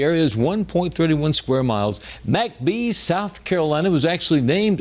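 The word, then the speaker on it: McBee: And the town happens to be pronounced MacB in South Carolina in Chesterfield County. Population 758. The area is 1.31 square miles. MCB South Carolina was actually named after railroad executive V.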